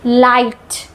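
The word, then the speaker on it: light: लाइट जी H silent है।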